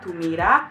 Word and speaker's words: mirá: Again, she says it in an Andalusian way, or like more gypsy way, which is pienso en tu mirá clava una bala en el pecho.